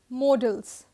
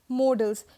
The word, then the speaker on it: modals: इट्स नॉट मॉडल्स. मॉडल्स होता है MODEL, बट MODAL is what we have and they are known as modals.